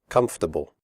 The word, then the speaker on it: comfortable: depth we say debt comfortable the word comfortable has three syllables not for the o.r is silent we say comfortable not comfortable comfortable clothes the final sound